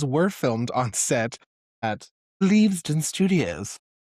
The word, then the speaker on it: Leavesden: So those were filmed on set at Leavesden Studios. I believe it's pronounced. It's leavesden.